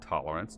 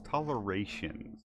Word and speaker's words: toleration: go look up the tolerance documentation our Asians not tolerance toleration I've been saying it wrong this entire entire time be aids in